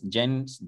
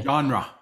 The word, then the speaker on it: genre: one is it generous Jen how do you say this thing genre Genera okay genre I know it doesn't look like that that's a genre yeah okay right name John with Rub at the end okay right okay so